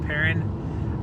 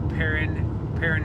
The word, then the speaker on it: Perrin: I just saw a sign up ahead about 2 miles away from the city of Perrin.